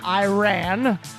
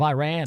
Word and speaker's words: Iran: over his pronunciation of Iran say you support the Iranian people but you're pronouncing our country's name wrong a country is named Iran not Iran please once and for all